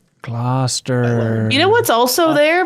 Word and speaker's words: Gloucester: It's pronounced Gloucester. Gloucester.